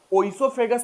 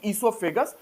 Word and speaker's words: esophagus: बोलते हैं है ना esophagus में ओ साइलेंट है osofegas भी पढ़ते हैं वह इंग्लिश में ब्रिटिश सिस्टम है और वो बात की बात है बट आप इतना ध्यान रखेंगे esofegas ओ साइलेंट में पढ़ते हैं ठीक है ना esophage